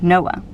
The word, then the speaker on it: NOAA: Oceanic and Atmospheric Administration, or just NOAA, pronounced NOAA for short.